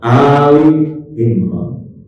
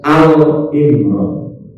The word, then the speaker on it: Ali Imran: dalam surah Ali Imran Bacanya adalah Ali Imran Jangan sampai meset alimran karena Kadang orang itu karena